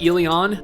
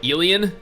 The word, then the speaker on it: Elyon: go ahead here and assume that it's pronounced ilion i know there are some people that are calling it alien and to me i don't know that just kind of sounds weird i don't know like